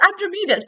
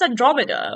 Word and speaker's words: Andromeda: I was like how that mind you my pronunciation sometimes is awful I was like why did I say princess androma princess Andromeda like why did I say like that so